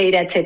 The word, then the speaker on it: Iratxe: Mi nombre se pronuncia Iratze, pero vamos, como se puede pronunciar con todos los acentos del mundo, como tú lo has dicho, suena precioso.